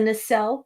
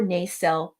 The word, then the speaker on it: nacelle: brand new two-level set the nacelle or naycell don't correct the pronunciation it's both ways the nacelle or nacelle